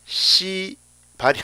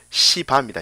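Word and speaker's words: C바: 얘는요, 이거는 여러분 특별히 발음 조심하셔야 됩니다. 시발이 아니고 시바입니다. 시바.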